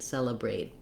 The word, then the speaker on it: celebrate: So I wrote that this way here for you, that you want to think about brate, celebrate.